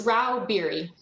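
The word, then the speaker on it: Rauh-Bieri: yes chairman i'm here how do you say your name ma'am it's rao beary thank you uh miss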